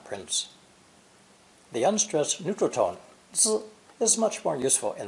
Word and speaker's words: 子: Pronounced third tone, 子, 子, and sometimes neutral tone, 子, 子.